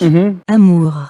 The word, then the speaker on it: amour: Amour.